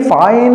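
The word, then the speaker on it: Faxian: तो आप तीनों के नाम लिख लीजिएगा, फाहेन, फिर आते हैं हमारे हुनसेन, और फिर आते हैं आई सिंह।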